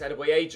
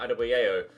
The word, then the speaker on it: Adebayo: It's Adebayo, it's a hard J, not Adebayo, so I shall call him Adebayo from here on out.